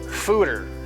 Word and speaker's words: foeder: I always wanted to say fooder. Yeah. It's fooder. Yeah. Okay. Fooder. Note. Yeah. That is fooders rhymes with hooters.